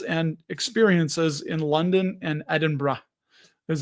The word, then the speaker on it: Edinburgh: You know, we booked uh we booked our flight, some hotels and experiences in London and Edinburgh is how they say it.